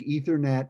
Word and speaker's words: Ethernet: ethernet do you heard it here I think ethernet and internet are both the first letter is